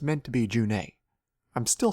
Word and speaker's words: June: As Gilderthalin pointed out in her video on him, the World of Thedas says his name is pronounced June.